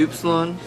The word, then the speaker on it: Upsilon: Would it be Upsilon or Upsilon, whatever you said? Yep. Yep. Nice. How's it pronounced? Like a oo.